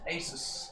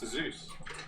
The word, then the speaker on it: Asus: Yeah, so it's Asus. Asus have given us some goodies to... Asus? Yeah. Asus. Asus. Asus. Like Pegasus. It's a Zeus. It's definitely a Zeus. It comes from Pegasus.